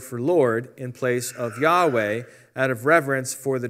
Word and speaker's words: Yahweh: just review that first of all yhwh is pronounced yahweh that's the name of god hello that's a